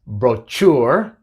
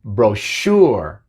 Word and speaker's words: brochure: No es brochure, sino brochure.